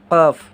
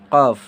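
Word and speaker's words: قاف: इसको हम लोग बड़ी क़ाफ से जानते हैं और इसका उच्चारण क्या हो जाएगा? क़ाफ। क्या हो जाएगा? क़ाफ।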